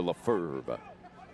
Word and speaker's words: Lefebvre: Yeah, he's got the pronunciation and spelling like Brett Favre, with the V actually comes before the R on the spelling. That's Simon Lefebvre. He throws a B in there just to confuse me, though. Yes. Which evidently is silent.